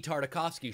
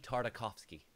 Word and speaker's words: Tartakovsky: if you're an animator on a a gendi tartakovsky show yeah then you have to be able